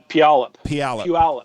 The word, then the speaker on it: Puyallup: Puyallup. Puyallup.